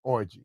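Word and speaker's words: Alex Orji: the last name orgy Alex orgy it's spelled with a J not a g r JS yeah it sounds the exact same and the I mean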